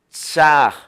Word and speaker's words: chaj: Realmente es muy fácil pronunciar esta palabra porque solo tiene una CH, una A y una J. Chaj.